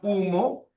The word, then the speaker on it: humo: Ya, por ejemplo, miren, tienes la palabra humo y sumo. Humo y sumo. Ya. Humo y sumo. Ahora, dense cuenta, como la H no es un fonema, por lo tanto no va a contar.